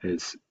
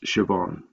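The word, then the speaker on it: Siobhan: h n is quite unusual so sometimes students pronounce it asan but that's wrong it's shoban there's also an idiom an idiom is a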